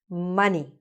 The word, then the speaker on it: money: Money. So money in English, even though it's spelled with an O, sounds exactly like bunny.